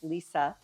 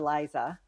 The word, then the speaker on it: Lisa: So my mother wanted people in Ireland to call her Lisa, the American pronunciation because she was Mary Elizabeth. So the short for Elizabeth is Lisa. And they were calling her Liza. And my mother didn't like it.